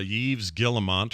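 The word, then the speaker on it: Yves Guillemot: don't know well uh Yves guillemont or have you say his name yeah I'm pretty sure you nailed it Scott yeah the S is silent in French okay so Eve gillemont which I'm sure is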